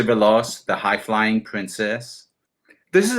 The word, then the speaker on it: Veloz: I say it right Lucy veloz the laws yeah like uh velocity so Lucy belos the high-flying Princess this